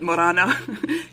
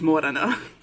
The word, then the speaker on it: Morena: God uh Morana dude it's not Morana it's Morena Maya can't pronounce [ __